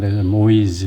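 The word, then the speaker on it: Moïse: 이제 부러웠으면 이제 모이즈 이렇게 했는데이가 트레마가 붙어서 발음을 모이지 이렇게 됩니다 만약에이 트레마가 없으면 모아야지 이렇게 되는데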